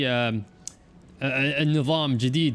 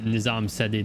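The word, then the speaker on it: Nizam-ı Cedid: I'm guessing, I remember they're pretty cost effective, but you normally see Nizam Jadid units. That's how you're supposed to pronounce it. Not the way it's like written, Nizam Sedid in this game.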